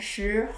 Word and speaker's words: 十: If you find 四 and 十 hard to pronounce, here's a little tip. 四, when you pronounce 四, think about in English, stop, sorry, 四. And then 十, like sheep, she, 四 and 十.